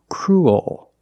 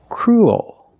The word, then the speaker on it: cruel: make the dark l so cruel that's the dark l cruel and it's not cruel there's kind of an extra sound and where it comes from is when you say ooh your mouth is in a more closed position crew and when you make the dark L the mouth opens a little bit so when you link